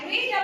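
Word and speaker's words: read: আমি একটি বই পড়েছিলাম আপু রিডটা কি হয়ে যাবে রেড একই বানাটা একই থাকবে রিডটা কি হয়ে যাবে স্পেলিং একই থাকবে বাট উচ্চারণ প্রনান্সিয়েশন ভিন্ন হবে রিড আমি একটি বই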